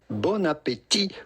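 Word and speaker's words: bon appétit: and some sunflower seeds Bona Petit Bona Petit with a silent tea at the end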